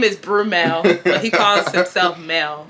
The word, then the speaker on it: Brumel: Mind you, his name is spelled B-R-U-M-E-L. So I don't know why people be calling him Bruno. Like, where did y'all get the N?